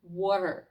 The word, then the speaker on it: water: Чули, як американці вимовляють слово water?